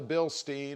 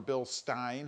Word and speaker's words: Bilstein: Now, in looking at what I want to do, you know, I've been focusing on the Bilstein or Bilstein, however you want to pronounce it. I'm going to go with Steen.